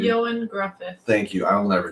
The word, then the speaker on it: Ioan Gruffudd: Ioan Gruffudd.